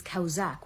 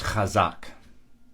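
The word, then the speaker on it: חזק: that is used is kausak which I also mentioned in previous videos you continue to mispronounce these roots based on your misunderstanding of a 19th century transliteration convention the word is khazak you look at the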